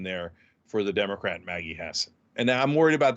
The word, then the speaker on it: Hassan: Hassan versus price I used to call her Hassan is pronounced Hassan um so uh versus Don Bolduc Don Bolduc